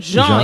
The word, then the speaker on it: Jean: That's how you pronounce his name, right? Jean, yes.